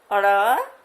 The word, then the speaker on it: ड़: इनका उच्चारण करते हैं अड़ और इसको कहते हैं अढ़। अड़ और अढ़।